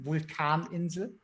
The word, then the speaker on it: Vulkaninsel: Vulkaninsel. Nice, A nice. Vulkaninsel. All right, now I know how to pronounce them.